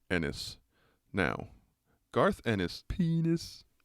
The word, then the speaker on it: Ennis: toenail clippings oh all right now then garth enos god damn it knife got me doing it garth ennis born january 16 in 1970 in northern ireland